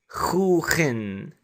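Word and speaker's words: خوخٍ: And we pronounce this as khookhin. I'm writing the KH to represent the Khaa. However, KH is just an approximation.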